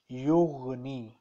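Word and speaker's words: yughni: No, actually there is still a little mistake in your pronunciation. This gain is pronounced from the upper part of the neck. Upper part of the neck. Yugani. So when you pronounce gain, it should come from upper part of neck.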